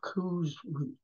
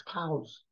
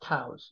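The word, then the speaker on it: cous: fat saddle of Venison and a mush of Coos cows I should say it's cows it's pronounced cows this is in the Lewis and Clark collection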